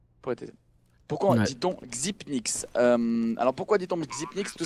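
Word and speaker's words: Xyp9x: Et voilà, le 9 égale Nin et du coup Xipnix.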